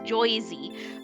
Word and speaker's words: Jersey: He wants to know, is it pronounced Jersey like the shirt, or Jorsey for New Jersey? Because he's heard it pronounced both ways. I think it depends on what part you're from, right? It depends on which part you're from. If you're in South Jersey, it's Joysey. But if it's Joysey, or